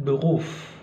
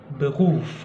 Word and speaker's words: Beruf: Beruf, kan di situ penekanannya ya.